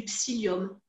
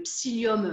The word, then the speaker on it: psyllium: Après, ce qui est, je dirais, plus simple à faire, ça peut être, par exemple, d'utiliser du psyllium, le psyllium blond.